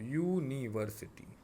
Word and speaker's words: university: must use article A, because university, it sounds like YU. Okay, YU, university.